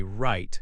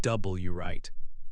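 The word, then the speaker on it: write: For instance, in the word right, you say right, not W right.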